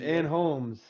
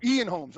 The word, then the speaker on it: Ian Holm: leone yeah italy with ann holmes napoleon and holmes yup napoleon yeah yeah napoleon oh ian holmes oh okay ian holmes i'm sorry and i was like it's my staten island accent we don't pronounce our e's in our areas in our areas i'm